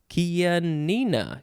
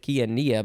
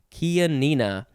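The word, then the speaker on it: Chianina: n i n a kia nina kia nina i think i said kia nia before kia nina noun from 1914 any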